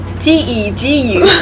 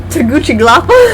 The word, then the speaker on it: Tegucigalpa: Tegucigal. Sorry. Tegucigalpa. Because I don't want to try to pronounce that, and it's all capitals anyway, so who says it's not accurate?